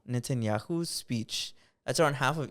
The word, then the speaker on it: Netanyahu: chamber for n netanel how do you say his name Netanyahu netanyahu's speech that's around half